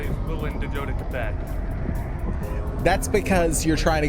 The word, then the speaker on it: Quebec: Quebec. Every Yeah. Quebec like with a K.